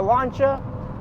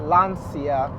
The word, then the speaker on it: Lancia: gosh is that a lancha well how they pronounce it lania it's not it is lancha lancha I like the fact